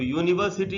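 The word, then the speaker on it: university: कोशिश करेंगे सुनने की तो यूनिवर्सिटी यू से स्टार्ट हो रहा है यू मैं यह का साउंड है जो ए से बंता है ए एक कॉन्सोनेंट है इसीलिए इन शब्द को क्योंकि इंग्लिश में जो रूल्स हैं वो साउंड बेस्ट है ध्वनि को पर आधारित है तो इन शब्द की शुरुआत में राहुल होते हुए भी एक कॉन्सोनेंट का साउंड ए रहा है इसीलिए इनके पहले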